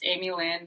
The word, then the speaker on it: Amielynn: Here's how you spell it, and it's Amielynn, not Amy. You can please have that third syllable there.